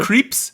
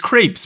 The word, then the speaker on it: crepes: what what wait did how do you say that creeps it's crepes bro crepes crap crippy could